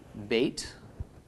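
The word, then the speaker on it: בא: do so the verb that I'll give is bait khalaf with a comments under the bait so this is pronounced ba and ba is in the present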